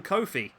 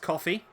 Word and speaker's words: Coffey: the comment section, so I've been informed that it is pronounced coffee, so hopefully I can keep going that right. I don't know why, I just assumed it was Kofi.